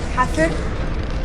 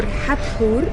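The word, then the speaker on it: Hathor: This is Hatter or Hatur. That's how we pronounce her name.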